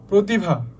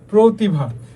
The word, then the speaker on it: প্রতিভা: তো দেখো এখানে যেমন আমরা কি বললাম, শব্দের প্রথমে র ফলা যুক্ত হলে অ এর উচ্চারণ কিসের মতো হবে? ও, তার মানে অ এর মতো থাকবে না, অ চেঞ্জ হয়ে যাবে, ঠিক আছে।